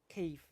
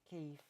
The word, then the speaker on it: Kiev: So that means I that means that Kiev is actually the correct way to say the name of the city, just so you know. With that sort of soft V. Kiev.